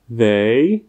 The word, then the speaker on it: they: A tady tedy jasně vidíte, že pokud my tu hlásku TH zaměníme za D anebo S, tak tím změníme význam toho slovíčka a lidé nám pak neporozumí.